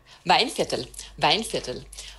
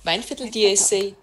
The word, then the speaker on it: Weinviertel: Okay, so we have another Gruner here, this one I have is, I'm not going to pronounce it correctly, Viener Weinviertel? - Weinviertel, Weinviertel (mumbles), do you have that size in it?